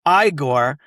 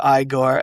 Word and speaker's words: Igor: the pronunciation, and he says his name is pronounced Igor. And so, he just Frankenstein Frankenstein just sticks with that the whole movie. And he's like, "It's actually pronounced Igor."